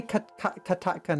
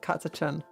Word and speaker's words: Catachan: It might be Katakan, not Catachan. Yeah, it's Katakan. I forget that. It's with a K pronounced for CH.